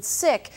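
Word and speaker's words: Sikh: and there has been some debate over the pronunciation of the sick or seek religion leaders at the temples not Creek and manasha tell us both are considered correct but they pronounce their religion sick and have asked us to do the same in honor of the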